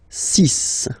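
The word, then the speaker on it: six: Then be careful here, because even if it's ending with this X, well, you'll have to pronounce it like S, okay? So you get the 6 pronunciation.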